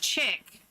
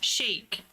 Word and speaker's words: chic: It's not pronounced check. It's chic. Just like it's bouquet.